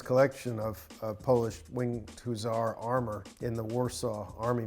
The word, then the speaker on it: Hussar: Okay, so you say Hussar, I always say Hussar. So it's Hussar.